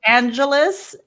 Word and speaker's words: Angelis: Alix Angelis. That's right. Okay, because it could be like Angelis, the whole syllable. It's like Los Angeles.